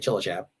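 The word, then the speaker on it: Cilacap: called chillichap tj in dutch is sort of the equivalent of ch and uh that was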